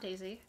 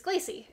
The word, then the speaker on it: Glacy: you're a little confused my name's not Daisy um uh it's it's glacy uh I know I understand it's the same two syllables the last syllable is pretty similar but um anyway I'm